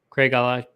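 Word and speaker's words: Craigellachie: but I have some scotch and I can't pronounce any of them. Craig Alaki is how you say Craig Alaki.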